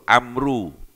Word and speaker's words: Amr: Kalau setelah ro ndak ada wawunya itu membacanya Umar. Tapi lek setelah wa ee suar ada wawu itu Amru Amr.